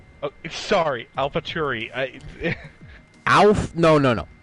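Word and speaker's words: AlphaTauri: it correctly oh sorry alfa turi alph no no no say it correctly what am i saying wrong it's not cherry where's the where's the ch cherry alpha tarry oh sorry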